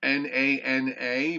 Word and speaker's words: Nana: september uh nana uh n-a-n-a but i believe it's pronounced the na is nah so it's nana and uh also we